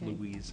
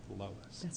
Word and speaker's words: Lois: I said today was Monday and I mispronounced your name as Louise and not Lois.